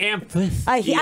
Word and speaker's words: amphitheater: But not the amphitheater. I've never. Where's the TH coming from? It's crazy. Is there a TH in that it's word? No, it's a PH.